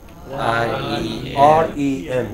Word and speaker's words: REM: REM. You know, this is how abbreviations go. Stress on the last letter.